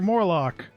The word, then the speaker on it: Morlock: Say your hands, it's Mr. Morlock. His name rhymes with Warlock, so he's a bad guy.